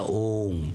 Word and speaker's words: om: and this is the OM and the home only because these three letters oh pronounced in combination as om May well be the